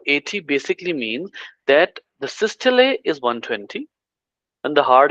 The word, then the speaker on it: systole: terminology is called as systole. In other pronunciation it is also called as systole, but the systole is the pronunciation in British.